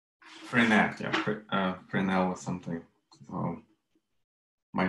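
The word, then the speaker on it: Fresnel: Oh, it's a name, it's a French name, It's pronounced Frenel. It's F-R-E-S-N-E-L, and S is silent.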